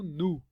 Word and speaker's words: new: new né ou New e na pronúncia americana você pronuncia como nu tá só uma questão de pronúncia e no britânico eles puxam o i então fica new house e no americano new house mas as duas formas estão corretas tá então entrando agora